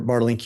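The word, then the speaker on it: Bartelink: And am I saying that correctly? It's Bartlink? You pronounced it perfectly. Yes, thanks. So, Dr. Bartlink, you've already, I think,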